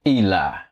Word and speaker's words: Eli: Bishop Eli.